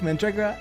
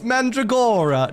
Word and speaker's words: Mandragora: Garlic, mandragora, eggplant, onion, garlic, and tomato.